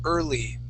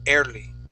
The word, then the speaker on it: early: you is early okay you had said early okay the word is early try that please early good uh so they were um they were early 20s try that they were early 20s good nice job okay yeah just remember when you see that e a r okay that would be ER all right uh other